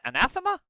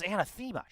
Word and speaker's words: anathema: dollar should be Is that how you pronounce it? Anathema. I thought it was anthemma.